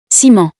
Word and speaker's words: ciment: ciment, This word has the S sound, because it's followed by the I letter.